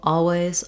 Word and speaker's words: always: beginning um so uh I personally use an L all always always but it is similar to the word all at the beginning where um sometimes people will